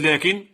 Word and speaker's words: لكن: إذن لكن أيضا تحذف ألفها كتابة وتثبت نطقا.